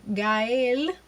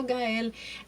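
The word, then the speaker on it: Gael: Gail hello guys and please please pronounce his name correctly look we we struggle as Latinos trying to pronounce y'all names so try to open their names correctly is guy and it's not Gail please stop calling him Gail y'all know who you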